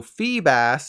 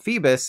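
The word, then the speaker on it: Feebas: for the fish it's a feeble bass so fee bass isn't surprising though anyone who called it Phoebus is surely disappointed right now as for the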